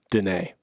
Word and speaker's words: Danae: and then she says pronounced renee with a d so as i've been saying it wrong i will now say danae thank you danae and